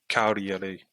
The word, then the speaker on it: Cagliari: Yeah, I've heard presenters pronouncing it Cagliari, like the G is silent.